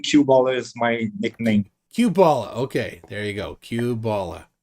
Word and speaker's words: Q-Ballah: my real name cue ball is my nickname cubala okay there you go Cuba Cube for Quebec not related all right Quebec well welcome uh cubala thank you very much what what's the Hat